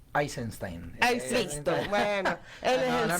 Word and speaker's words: Eisenstein: es de Sergei Einstein, siempre digo Einstein, me equivoco siempre. Te comes una sílaba. Es Eisenstein.